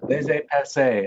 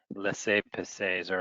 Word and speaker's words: laissez-passer: It's laissez-passer. I'll spell it for you.